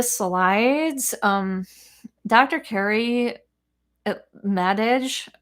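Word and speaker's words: Madej: um dr kerry uh madage or maday i think is how you pronounce her name but m-a-d-e-j especially if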